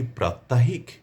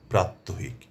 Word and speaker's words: প্রাত্যহিক: শব্দটি কি প্রাত্যাহিক নাকি প্রাত্যহিক? এ নিয়ে অনেকেই বিভ্রান্তির মধ্যে পড়ে যান। কি উচ্চারণ করবেন? কি বলবেন? কাজেই এটি পরিষ্কার হওয়া দরকার। প্রকৃত শুদ্ধ শব্দটি হচ্ছে প্রাত্যহিক যার অর্থ হচ্ছে প্রতিদিন